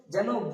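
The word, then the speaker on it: ز: মতো আমরা করবো র তারপর আসছে যা যেমনটা আপনাকে শিখিয়ে দিছিলাম আপনি সঙ্গে সঙ্গে বলুন যা যা এটা নিচে বা উপরে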